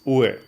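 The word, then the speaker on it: 上: because, like I said, the kanji for up is ue. That's how you pronounce it when it means up, when it's by itself.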